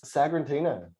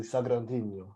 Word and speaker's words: Sagrantino: Sagrantino, or if you want to say it really nicely, Sagrantino. Yeah. You got to roll your R's.